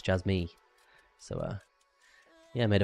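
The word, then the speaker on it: Jasmy: yeah apparently I was saying jasmi wrong app it's Jaz me so uh yeah I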